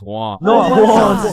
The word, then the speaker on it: Juan: That's just how it's pronounced. Jan. Is there Jawan in the room? It's Juan.